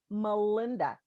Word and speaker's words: Melinda: Well, I tell you what, I'm Melinda, and it's Melinda. Do not spell it M-A. The name is Melinda. And Okay. I tell you what, some people just don't get it. They're like, is that Melinda? I'm like, it's M-E.